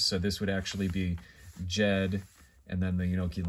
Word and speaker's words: Ged: But it's pronounced Jed. If you ever watch American television, you can watch the Beverly Hillbillies, and there's Uncle Jed, right? And then here is the way you would spell that out in IPA. This makes the J sound, ed.